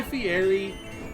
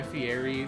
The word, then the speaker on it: Fieri: to mention that actually the r in his name is actually pronounced like in Italian it's FTI is it